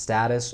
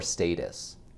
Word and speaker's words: status: as you probably heard status can be pronounced status or status you can use either one all right our last